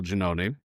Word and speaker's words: Giannone: Our guest is Giannone. Did I pronounce that right?